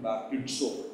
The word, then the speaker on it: baptizo: இது noun form, அதாவது பேப்டிசம் என்பது நவுன் ஃபார்ம் தான். ஆனால் அதனுடைய வெர்பு ஃபார்ம் என்னவென்று கேட்டால் பேப்டிசோ, BAPTIZO, பேப்டிசோ. அதை ப்ரொனவுன்ஸ் பண்ணும்போது பேப்டிட்ஸோ, டி இடையில வரும், பேப்டிட்ஸோ என்று சொல்வார்.